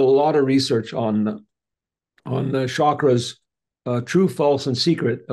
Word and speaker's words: chakra: Oh yeah, you mentioned chakras. I won't go too much into chakras. It's actually chakras is the proper Sanskrit pronunciation.